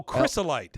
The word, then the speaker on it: crystallite: that what you just said how do you pronounce there drink C no but C HR Ys o oh crystalite crystalite got it I swear to God you